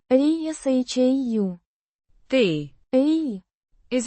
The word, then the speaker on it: Решаю: Pronounced. ri-sha-yu.